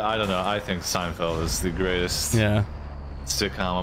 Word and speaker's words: Seinfeld: don't know dude although that reminds me of Seinfield it's Seinfeld whatever you pronounce it yeah I'm a fan of Seinfeld